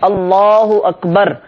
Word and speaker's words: اللہ اکبر: کی طرف ہوں، اور صحیح تلفظ کے ساتھ اللہ اکبر، یہ صحیح تلفظ ہے، ہم یہ تلفظ کے ساتھ اللہ اکبر کہتے ہوئے اپنے ہاتھوں کو نیچے لائیں.